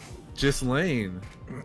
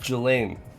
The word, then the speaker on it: Ghislaine: Ghislaine. The fucking Epstein's wife? Jelaine.